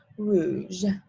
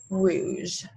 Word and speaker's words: rouge: word for red is whoosh there we go rouge this one's pretty easy easy there's not many there's no like strange french pronunciation sounds it's pretty simple it's just rouge and then the next color is orange and